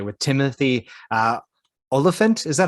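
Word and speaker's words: Olyphant: 47, Agent 47, I should say, with Timothy Oliphant. Is that how you say his name? Oliphant? okay, so well, the one with Timothy, I always call him Ophalant.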